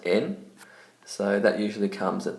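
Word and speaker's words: 円: like 100 yen the actual word yen is pronounced in so that usually comes at the end of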